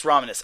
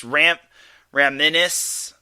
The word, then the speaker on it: Romanis: It's actually pronounced Mix Romanis. I think I said Mix Raminis or something along those lines. I think everyone's been mispronouncing Mix's last name. So it's Mix Romanis. So it's like ominous except Romanis.